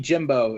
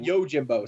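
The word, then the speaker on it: Yojimbo: And Usagi Jimbo is going to be in 3 episodes. Usagi Jimbo. Oh, the rabbit? The rabbit. Yeah. The Yo Jimbo. Sorry, I always mispronounce that.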